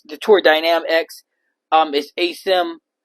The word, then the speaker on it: Tour Dynam X: I call it Tour Dam X, but it's Tour Dynam X.